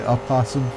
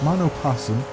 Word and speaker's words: Mono Possum: Did I just say opossum? I am so terribly bad at that. No, it's Mono Possum. The O is silent, quite silent.